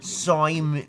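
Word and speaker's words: Saumon: I got this Neo color, the Simon. If you read this, it's spelled weird. It's literally S-A-U-M-O-N. Simon, whatever. But yeah, we're gonna go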